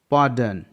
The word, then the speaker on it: pardon: Heard, PARDON, पार्डन, यहाँ पास भी R के बाद एक कॉन्सोनेंट D है इसलिए R साइलेंट है।